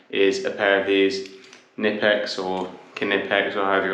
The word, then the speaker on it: Knipex: I'd instead recommend is a pair of these nipex or kex or however you want to pronounce it where this still an adjustable spanner